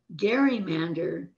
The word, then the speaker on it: gerrymander: And over time, the word gerrymander came to be pronounced with a soft G, as in Jerry, the pronunciation we use today.